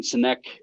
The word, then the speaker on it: Sinek: was it was a Simon sinek uh uh cynic I think is how you say his name um but but he